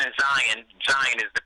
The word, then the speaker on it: Zion: Well, Jaden and Zion is the correct pronunciation.